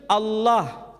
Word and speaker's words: Allah: ha dibaca Allah Tetapi mereka serempak menyebutnya dengan pronunciation Allah menyebut dengan sebutan Allah Allah ini tidak dikonstruksi